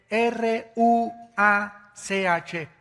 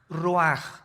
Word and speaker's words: ruach: El ruaj que se escribe r u a c h. Ruach en el hebreo y se pronuncia igual roj.